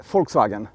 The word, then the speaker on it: Volkswagen: - I say Volkswagen. - Why? - Because V is pronounced like F in German.